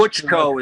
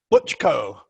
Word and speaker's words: Buchko: Buchko is fine. Buchko.